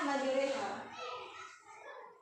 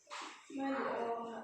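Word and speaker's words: مجريها: Imalah tuh bacaannya majreha. Ini panjang. Majroha. Tulisannya kan majroha. Ini mah sering denger ya majreha. Tulisannya majroha, dibacanya majreha.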